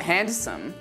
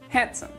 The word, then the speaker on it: handsome: It's not handsome, it's handsome. Take a moment to pronounce the following words that also have a silent D.